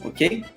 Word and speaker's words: aux: Então, AUX é aos, ok? Mas a pronúncia é o, a menos que tenha uma vogal. E aí fica os.